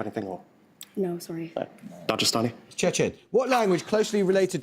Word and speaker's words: Dagestan: It is, although it's pronounced Dagestan.